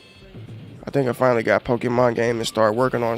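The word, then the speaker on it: Pokémon: So I think I finally got Pokemon game and start working on stream.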